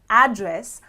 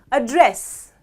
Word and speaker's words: address: However, if I stress on the second half of the word and I say address, address is a verb which means to talk to someone.